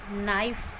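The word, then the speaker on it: knife: के वर्ड जब भी कोई वर्ड के एन से शुरू होता है, के एन से शुरू होता है तो वहाँ पर के साइलेंट होता है। For example नी, नो, नाइफ, नॉट। तो यहाँ पे के एन से शुरू होने वाले सभी वर्ड्स में के साइलेंट है। वर्ड जो साउंड कर रहा है वो एन से कर रहा है।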